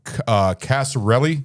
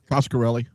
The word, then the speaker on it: Coscarelli: Casarelli. Is that how you say it? That sounds right. All right. Don Casarelli. Coscarelli. Coscarelli? Okay. That sounds better.